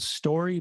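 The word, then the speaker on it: STQRY: working with a company called story but it's spelled s-t-q-r-y regarding building an app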